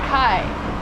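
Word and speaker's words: ไข่: So then I googled it and it's like oh you have to say it like kai and I don't know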